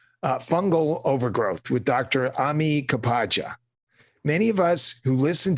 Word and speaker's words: Kapadia: You're close. Kapadia. Kapadia. Ami Kapadia.